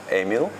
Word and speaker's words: Emile: You make really, it's so difficult, I know, for people to pronounce my name because my name is French, Emile, and Ratelband is like a real Dutch.